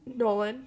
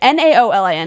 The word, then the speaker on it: Naolin: how Terrence, former writer, Nowlin. Nolan, I don't- Nolan, something like that. It's Naolin. Yes, Don't know how to Nolan.